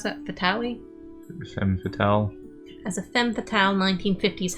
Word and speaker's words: femme fatale: Just more of her passive-aggressive act as a how do you pronounce that? Fatale? Femme fatale.